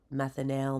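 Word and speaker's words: methanal: L I always over I always over pronounce it I say like Big Al only because methanel methanol they sound pretty similar so if we do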